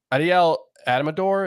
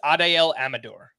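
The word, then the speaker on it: Adael Amador: up for long but Adel adamor is that how we pronounce his name I haven't I don't think I've said his name out loud yet I believe it's Adel Amador Adel Amador um he's got seven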